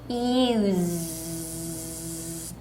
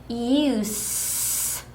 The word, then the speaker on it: use: 자, 동사일 경우에는 다시 use 떨린 소리 z 발음 냈어요. 자, 명사 사용일 때는 use 새는 소리 s로 발음했습니다.